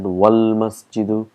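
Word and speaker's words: وَالْمَسْجِدُ: Wal-masjidu, if you see here, it's hamzatul wasl, so we've got to put all our knowledge here. That's why we pronounce it wal-masjidu.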